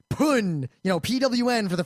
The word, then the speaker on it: pwn: why when someone said pune you know pwn for the first time in a mega tf match i was in we all pronounced it pun and in retrospect pun poon this book there may be